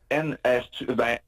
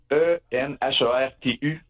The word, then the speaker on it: Enhertu: Oui, c'est Enhertu. E-N-H-E-R-T-U. Donc, je sais pas, je le prononce comme il faut.